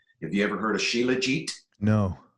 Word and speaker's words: shilajit: who had shilajit have you ever heard of sheila jeet no it's spelled s-h-i-l-a-j-i-t and it's pronounced sheila jeet shilajit and it's a resin that comes out